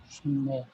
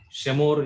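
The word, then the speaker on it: שְׁמֹר: Shimmer. Yeah. Anyone try to read? Shimmer. Shimir. Shimur. Shimir. No. Shemur. Shemor. Shemor is the right pronunciation.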